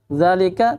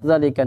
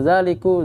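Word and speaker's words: ذٰلِكَ: Zalika, tetap zalika. Nggak bisa zaliku, zaliki, nggak bisa. Sekalipun orang membacanya zalik, dikasr, disukun, tetap aja akhirnya itu zalika. Tapi orang membacanya sukun saja.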